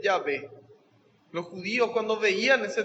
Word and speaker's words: Yahvé: No hay consonantes en hebreo, entonces al ponerle sonido se lee Yahvé.